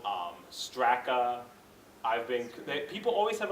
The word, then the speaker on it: Strakna: an ethnic name but it really is pronounced just like um the way it looks but people always mess